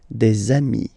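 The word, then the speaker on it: des amis: got dei okay and if you make the the leazison so the link between the two you will get desami okay dei So ami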